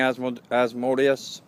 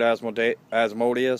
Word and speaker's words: Asmodeus: Lilith, you know, King Asmodeus or Asmodeus. Some people pronounce it Asmodeus, some other people pronounce it Asmodeus. I think it's pretty much the same thing, personally.